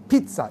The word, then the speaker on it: pizza: İtalyan pizzası Pizza unutmayın Pizza değil Pizza iki tane Z bir tanesi T okunur İtalyanca Pizza denmez Pizza denir Pizza aynı zam pirin